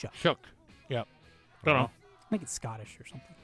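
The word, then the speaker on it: Shough: I don't know how you spell it. S H O U G H. Shook. Shook.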